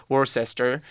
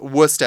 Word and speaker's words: Worcester: all over the world as well yeah often mispronounced people call it worse Esther or more Chester's where's Chester Chester Shire yes but it is Worcester and it's a weird source that was invented